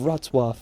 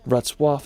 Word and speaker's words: Wrocław: Now after, we're going to head over to the beautiful city of Wrocław. It's such a tricky pronunciation. Wrocław is such a charming historical place.